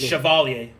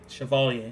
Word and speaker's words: Chevalier: Oh, no, it's Chevalier. Chevalier. That's how you say it.